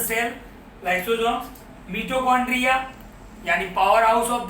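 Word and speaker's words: mitochondria: मिटोकॉन्ड्रिया, बहुत सारे teacher इसका प्रोनाउंसिएशन माइटोकॉन्ड्रिया भी बोलते हैं।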